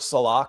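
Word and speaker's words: Saleh: Um, I wouldn't mind if like Robert Salah came in as uh it's actually Robert, someone asked this is how do you pronounce his name? Pro football reference says Salah.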